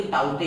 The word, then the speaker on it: Tauktae: अभी ताउते ही देख लीजिए। ताऊ हम लोगों ने दादा पापा के बड़े भाई को बुलाते हैं ताऊ।